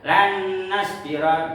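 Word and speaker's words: لن نصبر: Contohnya lan nasbiro. Lan nasbiro ya dibacanya lan nasbiro. Jangan sampai lan nasbiro tidak ditengungkan atau tidak dita ditahan ya. Maka kalau tidak ditemukan atau tidak ditahan maka itu bacaan yang salah.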